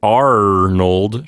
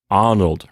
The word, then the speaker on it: Arnold: arnold okay so so lisa's not saying arnold she's saying arnold right with a kind of an open sound yes and with a t at the end of course the voiceless d which uh basically turns it into a t sound let me see if